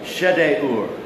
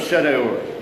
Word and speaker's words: Shedeur: But for weird names, always pronounce the I's an I or an E. Pronounce every vowel. And what you'll get is Elizur, son of Shedeur.